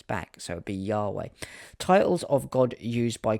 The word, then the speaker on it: Yahweh: In addition to the personal name of God, which is Yahweh or YHWH, pronounced with the vocalizations of Yahweh or Jehovah. Well, it's not Jehovah, because that doesn't seem to work in the fact when you trace these names back.